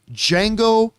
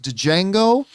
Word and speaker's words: Django: referred to it as django until the movie so properly reminded us the d is silent many many times this